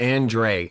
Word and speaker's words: Andrade: has his moment Andre so they pronounce it Andre right M event weird not how it's spelled that's not spelled right